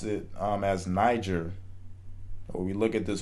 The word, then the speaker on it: Niger: U, and Okay, so the I in quote unquote Niger actually makes an E sound. So it's Niger. Okay, so Niger is how that word is pronounced.